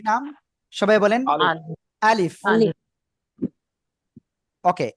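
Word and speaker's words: ألف: কি নাম সবাই বলেন আলিফ ওকে এই আলিফটা হলো মুখের খালি জায়গা থেকে উচ্চারণ হয় কি বললাম মুখের খালি জায়গা থেকে আপনারা মনে রাখবেন আর এই আলিফে কোন টান নাই ঠিক আছে আলিফ ওকে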